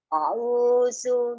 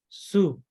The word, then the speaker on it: a'udzu: Tapi pas kedua terpeleset Ki. Iya, iya. Kita bilang su. A'udzu. Nah, harusnya a'udzu. Zu. Iya, iya. Huruf Z gigit lidah.